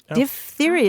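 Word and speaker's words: diphtheria: the word dip theia di theia is the way you pronounce it because um part of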